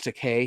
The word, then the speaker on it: Takei: And of course, one thing, George Takei, he's in it as well, or George Takei. I do believe that's how you say it, George Takei, because it's an E, not an A.